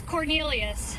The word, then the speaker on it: Quornelius: The first name is Cornelius. It's spelled Q U O R N E L I U S.